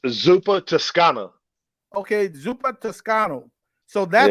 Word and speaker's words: Zuppa Toscana: How did you pronounce it? It's Zuppa Toscana.